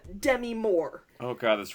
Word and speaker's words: Demi: Well, actually her name is pronounced like Demi.